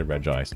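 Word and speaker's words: Regice: Oh, does he say does he say re ice or reggi ice reggi rock ice? He does say re ice. Okay. I mean, I know it's spelled it's spelled re ice, but some people All right.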